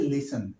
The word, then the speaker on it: listen: अब देखें सुनने की इंग्लिश क्या होती है, लिसन, LISTEN, टी साइलेंट है, लिसन, ही लिसन।